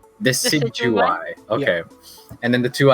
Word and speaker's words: Decidueye: The pronunciation was Decidueye. Decidueye?